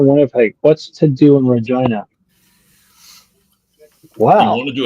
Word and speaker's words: Regina: I'm in Regina. Yeah. So Rhymes the with capital, fun. the city that rhymes with fun.